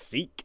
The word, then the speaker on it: Sikh: not going to happen is that pronounced seek yes like Seek and Destroy song by Metallica Maya defined as a